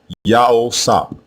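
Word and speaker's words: יוסף: Again, both versions are pronounced the same way, Yaosap, Yaosap, and it means Yahweh added.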